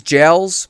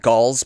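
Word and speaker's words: gaols: time thinking they're called galls, but they're actually pronounced jails. Like literally like j a i l, but it's spelled more annoying.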